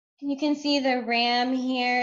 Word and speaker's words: Ram: You're supposed to be able to look at them and think those syllables. And of course, this whole entire symbol is representative of a vibration, which is Ram, R-A-M, Ram.